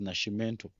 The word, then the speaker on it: Nascimento: I think they pronounce it as Nascimento. S and C.